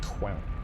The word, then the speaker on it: Quell: But yeah, that is Quell. The alternative would be to spell it, if you wanted it like that, would be Q-U-E-L-L as Quell.